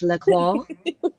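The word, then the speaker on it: La Croix: I've always said L I think we got to say it like we're French laqua but I'm not French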